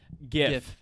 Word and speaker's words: GIF: us how we pronounce gif it's a gif you pronounce it jif i will come to your house and throw jars of peanut butter jif peanut butter at you because you're wrong it is gif g-i-f